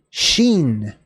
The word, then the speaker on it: shin: and that's R orish all right so kofresh sheen sheen so just like your shin which is